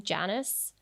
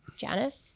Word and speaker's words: Janus: feeling so well actually i think you pronounce his name janice how'd you spell it j-a-n-u-s janice i've got it right um so he's not